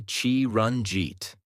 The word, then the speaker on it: Chiranjit: For example, my name is Chiranjit. You can say Chi-run-jeet.